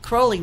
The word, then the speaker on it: Crowley: and he talks about all the same things you're mentioning, because he talks about Crowley, and Aleister Crowley renamed himself Crowley to rhyme with holy, is what I heard.